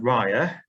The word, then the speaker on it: riah: of all we've got the word rya um which is um hair and and this is a back slang word it's hair um pronounced backwards um there are quite